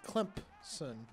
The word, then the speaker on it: Clemson: I had a sweet mate last year who was actually from Clemson, and he told me I was saying it wrong. He said he pronounced it Clemson, Clemp with a P.